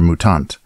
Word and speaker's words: Mutant: evolution of the game mutant or mutant is more accurate Swedish pronunciation the original mutant was